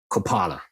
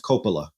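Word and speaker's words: Coppola: Nicholas Kim Kopala. Uh, you know what? That sounds familiar. And I think it's pronounced Copala cuz he's a he's of Italian descent.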